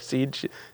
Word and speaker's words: CJIS: It's pronounced Sieges. It's CJS. I thought it was some like underwater discovery mapping software, like GIS, like Sieges.